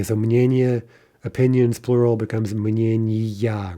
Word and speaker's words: мнения: Now, this is a special soft neuter, and those will never change their stress, right?